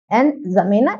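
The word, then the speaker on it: N'Djamena: है वो है अंजामे ऐसे लिखा जाता है इसमें डी साइलेंट होता है तो चार की जो राजधानी है वो क्या है एन जमेना यहां की करेंसी क्या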